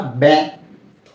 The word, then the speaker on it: ব্যথা: কারণ এই যে ব্যথা শব্দটির প্রথম বর্ণ ব, এর সাথেই জফলা রয়েছে। তো যখন কোনো শব্দের প্রথম বর্ণের সাথে জফলা থাকবে তার উচ্চারণটা কেমন হবে? এর মতো।